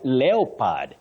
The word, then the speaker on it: leopard: when I talked about leopad leopad when that o is silent it's a leopard leopard